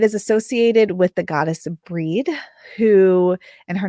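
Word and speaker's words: Brigid: associated with the goddess breed who and her name is spelled like bridgid b r i g i d sometimes there'll be an H in there as well I pronounce it breed um who embodies healing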